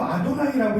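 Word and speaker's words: אדני: 여호와를 쓰지 않고 아도나이라고 써요. 읽을 때도 아도나이라고 읽는 거예요.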